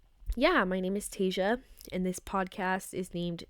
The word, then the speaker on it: Taezha: it um no but seriously my name is tasa and it's spelled t AE Z ha and I was